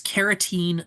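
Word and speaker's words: carotene: Finally, the last bit of pigmentation comes from a pigment called keratene. A note that is keratene, not keratin. Keratin, the protein found in human skin, is spelled with a K.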